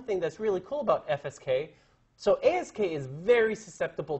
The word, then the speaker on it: FSK: The next guy is called frequency shift keying, or FSK. Yeah, don't pronounce it fsk.